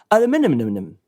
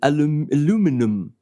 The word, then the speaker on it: aluminium: And in the US, it's wrong, saying aluminum. Actually, in English, it's aluminium, so the stress is on the I. And in American, it's aluminum on the U.